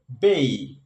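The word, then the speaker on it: bay: একই রকম বি এই ওয়াই, এটাকে আমরা যখন পড়ি উচ্চারণ করি তখন এটাকে আমরা বলি বে। যেমন বে অফ বেঙ্গল, বঙ্গোপসাগর বলি, এটাকে বলতে হবে বেই, বেই।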